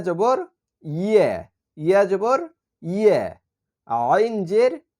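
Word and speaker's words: عين: ইউ হামজার সঙ্গে এবার আইনের উচ্চারণ হামজা হচ্ছে হলকের শুরু অর্থাৎ গলার শুরু থেকে উচ্চারণ হবে আর আইন হচ্ছে গলার মাঝখান থেকে চাপ দিয়ে উচ্চারণ করতে হবে আইন তাহলে হামজা জবর আ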